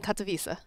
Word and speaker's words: Katowice: Can you pronounce the name of this tournament again? ESL One Katowice. I needed to hear that. Okay. I've been butchering that for like what a week. What have you said? Katowice.